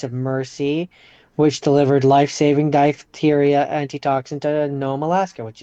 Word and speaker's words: diphtheria: I'm That's not in front of No, P H would be f No, I know.